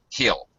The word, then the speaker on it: he'll: And it kind of sounds like hill, H-I-L-L. He'll see you. All right, so get used to, I would advise you to get used to pronouncing the contracted forms, the reduced forms of contractions, like heel, like this.